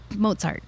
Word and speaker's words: Mozart: know it's mozart it's most people say mozart and it's like pizza mozart you know and now